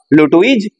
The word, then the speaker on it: Lutwidge: Original নাম হলো Charles লুটুইজ Dodson, লিখে দিচ্ছি original name, original name of the author, কি? Charles, CHARLES, Charles লুটুইজ, LUTWIDGE, লুটুইজ Dodson, DODGSON। উচ্চারণটা ভালো করে খেয়াল রাখবে, লুটুইজ, লুটুইজ এখানে ডিটা সাইলেন্ট আর ডডসনের জিটা সাইলেন্ট,